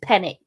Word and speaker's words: Penix: it's going to take to get them it's pronounced penix thank you I won't call him penix anymore I'm sorry pen my pronunciations are the